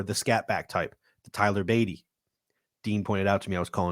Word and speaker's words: Beatty: Dean pointed out to me that I was calling Tyler Beatty Tyler Batty. I know his name is pronounced Tyler Beatty. I just been calling him my Batty for so long that